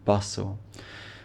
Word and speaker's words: bustle: and bustle remember class we have these silent T sounds in both of these words hustle and bustle the bustle of the